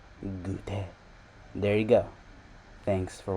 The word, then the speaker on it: goûter: Around 30% of their population eats this gautier. I don't know how to pronounce it, but goûter. It's pronounced goûter.